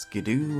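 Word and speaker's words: Skiddo: but I learned that apparently skido is pronounced Skidoo and I'm just not sure how I feel about that actually I am I don't like it it clearly has to come from kiddo so why the hell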